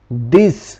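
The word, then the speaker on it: this: फेंकी जैसे यहां पर द आई एस लिखा हुआ है तो इसे हम कैसे पढ़ेंगे दिस यहां पर डाल का साउंड दे रहा है यहां पे डाल का साउंड देगा क्योंकि दी के टी के फोर ही बाद जो है तो इसे हम पढ़ेंगे दिस यहां पर लिखा हुआ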